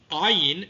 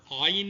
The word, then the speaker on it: Ayin: Ayin is similar to Het. It's pronounced down here, deep in the throat, whereas Aleph is a pause between 2 vowels.